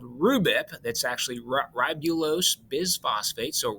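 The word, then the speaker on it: RuBP: probably know the five carbon sugar name of rhubip is how we pronounce it okay so state phase one carbon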